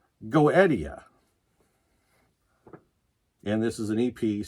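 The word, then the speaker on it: Goetia: and that's the tie breaker so this is pronounced goettia and this is an EP self-titled EP you know the other one pronounced it goesha but then I found two videos that said go Eddie and then I found a website that wrote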